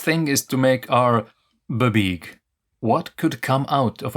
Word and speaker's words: BBEG: You didn't pronounce the word babeeg correctly? Yeah.